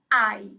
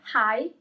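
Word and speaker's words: hai: I. Here as well you have the letter H at the beginning of the word, but you don't pronounce it. It's not hi, it's I.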